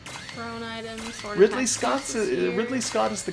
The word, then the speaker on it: Ridley: survive ly neutral specials isn't as Ridley and the fact that you call and rightly really really just blows me away I cannot understand how you see that and say rightly because that's how it's spelled no it isn't if it was rightly the e would be on the other side of the Apple that's